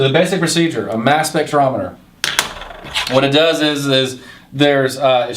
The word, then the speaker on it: spectrometer: It's pronounced spectrometer, but it measures a spectrum.